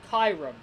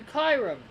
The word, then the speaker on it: Kyurem: apprenticed I am because it's kyu that's why I pronounced it as Chiron and it's got r.e.m at the end of his name kyurem so Chiron I really